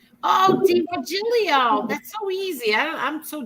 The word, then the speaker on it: DiVirgilio: nice first of all tell me how you pronounce your last name oh d virgilio oh diva julio that's so easy i'm so dumb i'm sorry